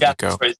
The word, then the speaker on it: Ico: For people that are wondering, like, people do call it all different ways, but the 100% correct way to say it is Eco. Is Eco, but I've always just said Ico.